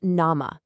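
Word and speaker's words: 生: It's pronounced nama, and it literally means raw or living.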